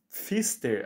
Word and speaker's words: Pfister: Enquanto seu epíteto específico é uma homenagem a Ana Pfister, acho que o P é mudo, né?